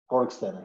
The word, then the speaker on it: Borgstena: You pronounce it Borgstena, right? Borgstena, yes.